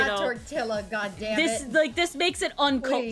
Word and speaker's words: tortilla: no, you're just like, it's tortilla. Like you make the Y noise, British folks. It's not you know? tortilla, goddammit.